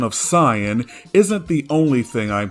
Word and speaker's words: Saiyan: Since posting the original video, I have been getting an endless barrage of NPC tier comments asking me, why do I pronounce Saiyan as Saiyan?